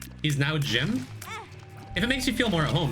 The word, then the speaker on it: Jimb: people typically call me Jim with a silent B.